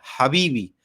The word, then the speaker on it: Habibi: Habibi, es la H otra vez es Habibi.